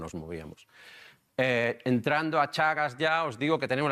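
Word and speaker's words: Teagasc: Perdona que pronuncie Chagas, se escribe Tiagas, pero se me ha borrado ya esa parte de la cabeza a mí.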